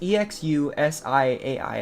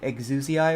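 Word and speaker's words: Exusiai: first guess was like exusia or something like that I think the English voice actor pronounces this like exusia and then I know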